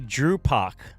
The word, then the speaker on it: Drew Pac: Drew Pac, pronounced like Tupac.